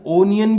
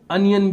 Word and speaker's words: onion: अनियन यानी प्याज, ONION, ओनियन भी बोलते हैं इसको, अनियन भी बोलते हैं, दोनों जो प्रोनाउंसिएशन है वो चलते हैं।